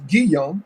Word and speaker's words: Guillaume: Robert, and the correct pronunciation is Guillaume. I know G, right? Oh, Robert okay. Guillaume.